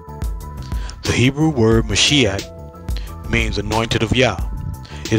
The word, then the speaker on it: Mashiach: or the name Yah, would be the correct pronunciation, Mashiach.